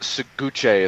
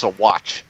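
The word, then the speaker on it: Saguache: So like it's not Seguche, it's Sawatch.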